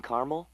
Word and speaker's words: caramel: The caramel, please. The what? I'd like it in caramel. Oh, the caramel? Yeah, that's what I said, Tina. Actually, you said caramel when it's pronounced caramel.